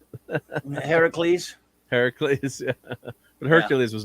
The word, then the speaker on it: Heracles: say how to say his right name heracles heracles yeah but hercules was not in the movie